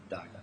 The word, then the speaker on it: Dagher: Dagher's, if I pronounce it correctly, in Dagher, thank you, her employment was terminated, I think, in early 2011.